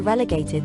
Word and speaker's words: relegate: throws he might be relegated to the position of bench warmer relegate rhymes with delegate both words derive from